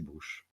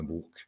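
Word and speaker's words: Bruch: Brisure, c'est brouche, pas bourque.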